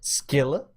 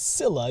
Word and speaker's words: Scylla: will decide which teams, Skilla or Charybdis, each team will... No, not each team. Each we went person over, will be on... We went over this. It's Scylla. You managed to mispronounce it despite the fact that we...